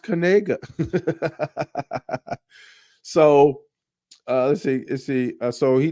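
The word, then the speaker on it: Knigga: For show says he's got to change his last name, but apparently he it's pronounced Kanega.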